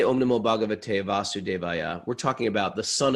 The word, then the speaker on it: Vasudeva: right now and see right if it has a long a or short a but i don't think they changed that mantra it's vasudeva okay but but the